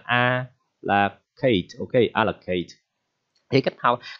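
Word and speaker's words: à la carte: Thì đây là cách viết của tiếng Pháp ha, và đọc là a là kate, ok, allocate.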